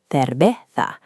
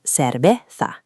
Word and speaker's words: cerveza: In Spain, they are pronounced with a TH sound, like cerveza. In Mexico, those same letters merge into a sharp S, making it cerveza.